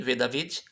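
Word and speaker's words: ודוד: aqui na frente ó então ficaria V David V David tá ok a pronúncia seria assim V David e o qual seria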